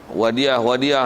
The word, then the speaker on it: wadi'ah: Kalau ejaan Melayu orang nak sebut wadiah, wadiah, akaun wadiah, wadiah tu, wadiah tu. Wadiah tu bukan wadiah, wadi'ah. Kan dia ada koma tu kan.